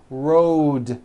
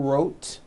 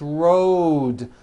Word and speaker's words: road: Road. It's not wrote unvoiced. It's rode. The whole word is voiced.